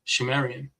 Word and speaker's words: Sumerian: He writes, it is also reckoned that the subsequent culture of the region, phonetically called Sumerian, pronounced Shumerian, was actually Sidhumerian or Shemerian.